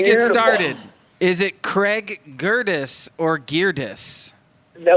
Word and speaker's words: Gerdes: Before we get started, is it Craig Gerdes or Gerdes? No, it's Gerdes, as in like Curtis with a G. Okay, like a girdle, but it's Gerdes.